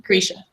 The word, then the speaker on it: Grisha: Grisha.